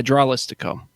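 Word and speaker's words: Dralístico: how they pronounce Tralistico? them. Is that Tralistico? Yeah, Dralistico.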